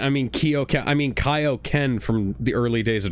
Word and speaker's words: Kaio-Ken: I mean Kio I mean Kaio-Ken from the early days of Dragon Ball. And Peter Kamis even poked fun at that was like, "Yeah, I did pronounce Kaio-Ken correctly."